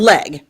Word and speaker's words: Legge: Heather, tell me about Catherine Legge. Catherine Legge. Yes. So the E is silent.